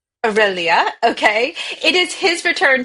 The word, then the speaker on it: Via Aurelia: Pronounce via Via Aurelia. Aurelia, okay?